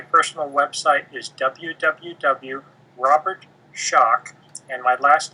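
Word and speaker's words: Schoch: my website my personal website is www Robert shock and my last name is spelled s h o c so it's r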